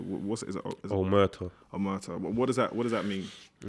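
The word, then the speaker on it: Omertà: I got it wrong when I pronounced it. What's it? Is it Omerta. Omerta.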